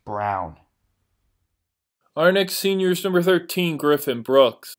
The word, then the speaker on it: Braun: he loves maps and his last name is pronounced brown our next seniors number